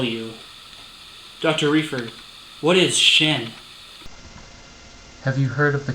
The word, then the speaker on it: Xin: into unofficial of course it's pronounced Shin Catherine leave the room